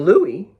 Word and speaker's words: Louis: the 14th that's not big King Louie which is how you say Louis in France French was a shrimp